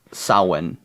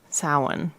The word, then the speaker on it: Samhain: Samhain. Samhain. Is how it's pronounced, but it's spelt like Sam Haines.